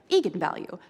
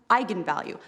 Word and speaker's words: eigenvalue: that i wasn't quite sure on how to pronounce it looked to me like egan value so right i mean i think that's what you would think eagan value so i asked is this how you pronounce